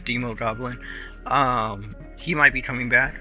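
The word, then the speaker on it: Demogoblin: Green Goblin, the Hobgoblin, or the Demo Goblin, or Demon Goblin. I'm not sure how you say it. It's Demo Goblin.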